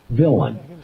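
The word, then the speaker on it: villein: Law Dictionary it's spelled it has an unusual spelling because it's French in origin but we say it villain it's spelled v i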